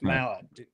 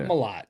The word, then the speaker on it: Mallet: Jeff Mallet. Yeah. The hammer himself. Not Malott. Don't pronounce it wrong.